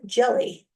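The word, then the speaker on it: Hjelle: My maida name is Jelly and it's spelled H J E L L E.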